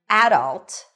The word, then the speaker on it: adult: The first pronunciation is adult. Adult. The stress is on the first syllable.